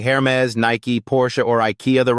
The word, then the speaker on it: Nike: often gets mispronounced as Niki or Nike the right answer it's Nike pronounced with two clear syllables Nike that final e packs